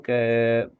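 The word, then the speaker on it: خاء: Huruf K dan Go. Huruf K ini mungkin kita kenal dengan dengkuran ya, bunyi dengkuran huruf K itu.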